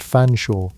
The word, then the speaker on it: Featherstone: Lady Snortling Py or Vic Countess Featherstone pronounced Fanshaw just to hurt you.